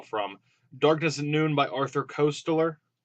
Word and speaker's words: Koestler: these are all from darkness noon by Arthur Koestler Koestler cost ler I'm on pronounce there's a signet classic published by the